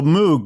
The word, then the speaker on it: Moog: Well, so Moog, Bob, was it his first name, Bob? Bob Moog? Yes, Bob Moog. And actually, I think it rhymes with Vogue.